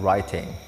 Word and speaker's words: writing: Yang terakhir, nah ini juga sering salah, cara membacanya itu bukan writing, W-nya tidak dibaca. Writing, writing, no tidak ya, langsung ke R-nya saja, W-nya juga hilang situ. Jadi kalian bisa katakan writing, writing, writing, seperti itu.